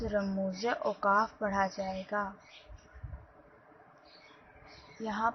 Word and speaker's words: رموز: رموز اوقاف کا تلفظ۔ رموز اوقاف یعنی رموز کے نیچے زے، یعنی جو زے آ رہی ہے وہاں پر اس کے نیچے زیر کی علامت آئے گی۔ اس طرح سے اصل لفظ رموز اوقاف پڑھا جائے گا۔